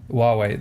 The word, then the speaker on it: Huawei: the way way I always forget how to pronounce that uh Huawei Huawei there you go so there's been some sort